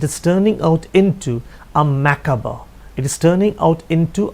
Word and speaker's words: macabre: The spelling is macabre, but the pronunciation is macabre.